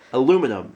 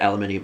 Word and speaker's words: aluminum: doesn't even make Alum it actually doesn't even make sense to pronounce it aluminium like I understand there's different ways to pronounce words but aluminium suggests that there's an additional leather in that word that there's not it's ridiculous anyway um so there's aluminum